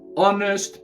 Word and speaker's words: honest: In this case, she is an honest person because the H is silent.